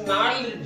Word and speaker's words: gnarled: करना, क्या तो फादर्स नॉल्ड डिजीज, GNARLED, नॉल्ड, जी साइलेंट होता है, जी के बाद एन